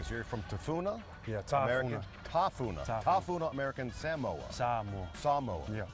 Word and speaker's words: Tafuna: Make sure I pronounce this correctly. So you're from Tafuna? Yeah, Tafuna.